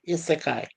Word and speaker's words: Isekai: That's how you pronounce it, Gorilla. Isekai.